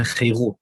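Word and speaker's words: חֵרוּת: Here we have differences between Hebrew words, charut and chirut. It's the same letters, but it's a different pronunciation.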